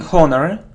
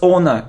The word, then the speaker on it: owner: worried so it isn't Horner its owner it's like honest honesty so we don't pronounce H it's like our not